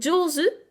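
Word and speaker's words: 上手: doué, jozu, donc là c'est la même lecture jo, mais c'est quand même une lecture un petit peu particulière parce que le zu, qui est le kanji de la main, ne se prononce jamais comme ça. C'est vraiment une lecture particulière, c'est comme heta, être mauvais, c'est une lecture très très particulière dans ces deux mots-là.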